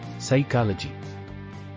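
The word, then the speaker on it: psychology: silent letter D bridge ಸೈಕಾಲಜಿ ಮನೋವಿಜ್ಞಾನ silent letter P ಸೈಕಾಲಜಿ ವೆಡ್ನೆಸ್ ಡೇ ಬುಧವಾರ silent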